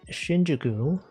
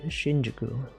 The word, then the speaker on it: Shinjuku: I assume you would pronounce it Shinjuku, but it's actually Shinjuku. Shinjuku would imply that the U is long, but it's not.